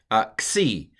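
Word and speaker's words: ξι: Xi. I'm going to pronounce it like an X.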